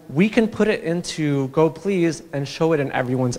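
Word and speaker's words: gopls: you can contribute to go please that's how you pronounce that thing so go please is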